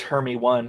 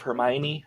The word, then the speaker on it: Hermione: she was ronnie but when i was reading harry potter it was always hermie one instead of hermione i'm all at hermit